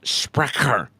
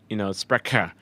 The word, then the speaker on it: Sprecher: By the way, I am starting off light tonight with a Sprecher root beer. Like Toy Cut. Sprecher, root beer. I think that's how you say it, right? It's Sprecher, but I'm sure in Germany it'd be Tommy Totland's getting feisty, dude.